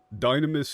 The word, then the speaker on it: Dunamis: Yes, that is the pronunciation that they go with. Dynamis is technically a semi-valid translation slash pronunciation of it, but the term dunamis gets used when referring to Aristotle. Like, and that's the spelling that gets used when this, within, like, translations of Aristotle, which is what they're pulling from.